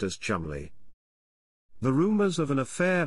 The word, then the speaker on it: Cholmondeley: Colbert clarified that the name Cholmondeley is pronounced Chumley and then humorously discussed the rumored affair between William and the marching band of chicanery.